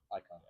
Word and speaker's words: AIKON: it still sounds like very AON icon. Icon. You actually still say it wrong.